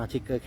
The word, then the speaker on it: Trigger: คืน เคาดาวน์ นะ ครับ นี่ ครับ อ่าน ว่า ทิกเกอร์ Camp New Year 2024 นะ ครับ นี่ ครับ